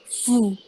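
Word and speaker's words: vous: Ada fous dibacanya vu. Jadi V-nya kayak ada W-nya gitu loh.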